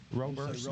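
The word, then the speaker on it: Roberson: Because half the time people say Robertson, and I correct them. I'm like, no, there's no T there. So, I usually forget the R. Robertson.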